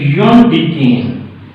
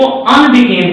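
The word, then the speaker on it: undecane: इसको अन नहीं बोलना, कुछ टीचर इसको अनडीकेन कहते हैं, ये सही प्रोनाउंसिएशन नहीं है, इसको अनडीकेन नहीं कहना बल्कि योनडीकेन इस तरह से बोलना।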